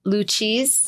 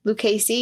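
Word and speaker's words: Lucchese: banano banano yeah and the luchis Lis lucasi lucasey yeah that sounds better to me they were all collectively better cuz that's how you say it they were all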